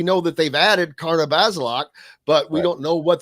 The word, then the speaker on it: Bazelak: We know that they've added Karna Bazelak, but we don't know what that has done. It's Bazelak, by the way.